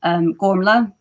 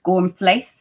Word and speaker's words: Gormflaith: So Gormla is one of my main characters, but if you were to read it, it's Gormflaith, if you were to say it phonetically.